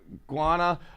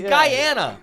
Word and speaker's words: Guyana: Motherfucker, it's Guyana. Is it? Guana. Guana's a fruit? That's worse than Hungarian. Guana. Is that pronounced Guyana? Yes!